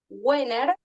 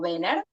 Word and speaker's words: Wenner: Gmail, que es Wenner, o Benner, como quieran decirlo, porque algunos pronunciamos distinto.